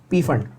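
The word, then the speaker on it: Pfund: Brackett series and P fund series. Now ideally his name should be pronounced as fund, the P should be silent, but upon Indian है, P fund, और P fund नहीं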